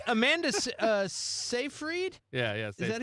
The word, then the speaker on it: Amanda Seyfried: Yeah, that's and what I'm like Amanda Seyfried, yeah.